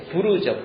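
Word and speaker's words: pur: 하만이 유다 사람을 다 죽이는 날을 잡을 때 어떻게 그 날짜를 잡았냐면 페르시아 발음으로는 프로입니다. 프로. 이게 부르죠, 부르.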